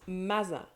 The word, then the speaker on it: mets-en: In informal conversation, you're much more likely to hear "mets-en", that can even be pronounced "mazen".